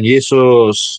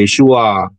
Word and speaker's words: Yeshua: Yahudi ya namanya bukan Yesus jadi yesua masuk pintu yesuain itu tidak bisa dibaca Yesus bacanya yesua Ya itu yang betul kemudian bers kepada nama